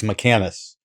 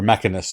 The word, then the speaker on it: Mechanus: The complete opposite of Pandemonium is Mechanus, or Mechanus, depending on how you choose to pronounce it.